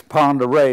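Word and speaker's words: Pend Oreille: Yeah, but there was a huge lake up there, Lake Pend'Oreille. It's spelled Pendorille, but that's French or something, I don't know. It's Pend'Oreille is the way it is.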